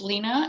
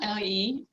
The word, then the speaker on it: Lena: It's Lena, Lena, and, and even Swedes.